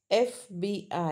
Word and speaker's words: FBI: Number 1 एफ, तो याद रखना NFBI एजेंट, pronounce FBI, है ना? So your concern is F. When you speak F, FBI, so then an FBI agent, right?